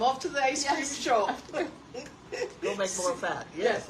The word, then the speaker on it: Xu: yeah Burlington Zoo what how do you say it uh Sho who Sho XU like sh sho yeah Sho we like